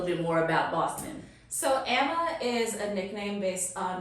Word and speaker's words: Ama: And then since middle school, everyone just sort of called me Emma. It's funny about the pronunciation, because I'm sure in middle school that changed 1,000,000 times before I settled on Emma, so it was probably Emma, Amma forever too.